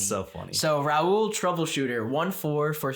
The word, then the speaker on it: Raul: right I'm going to pronounce him how I think it is pronounced okay Raul yes let's go bro I for a second I was like is this ra or like or like Rule n ra fun fact let's